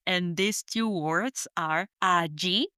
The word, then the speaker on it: allí: And these two words are allí, spelled A-L-L-I with an accent on the I, or allá, spelled A-L-L-A with accent on the last A, allá.